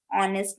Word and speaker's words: honest: I think he is an honest man. Why I have used an here? Because honest. Honest is the pronunciation. Pronunciation start from O.